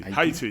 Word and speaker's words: Haiti: say in English Haiti. Haiti. Yeah, we say Haiti as well in English. Yeah. Yeah. We probably don't pronounce the H as much.